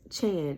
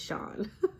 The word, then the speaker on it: Chan: c h n so of course people feel like oh that's Chan and let me be the first to tell you that it's not okay it's Sean um honestly it I